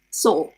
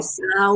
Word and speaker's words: saw: The past simple of to see, saw. Hmm. The Spanish instinct is to pronounce every letter that they see written. So they usually say So. sao or Uh-huh.